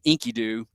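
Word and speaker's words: Enkidu: And he becomes friends with this um sort of crazy wild man named Inkyoo. That that's his name, Inkyoo, spelled with an e, e n ki du.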